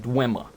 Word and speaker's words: Dwemer: I need to start saying Dwemer. Because everyone in the games pronounces it Dwemer. So it's clearly not Dwemer, but I have heard it said Dwemer before.